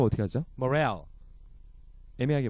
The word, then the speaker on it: morale: Morale. 애매하게 발음하네요. 네, Morale. 예, Morale 해도 되고 Moral 해도 되죠, Moral. 네네, 네. 그렇죠. 강세가 예. 뒤에 있으니까.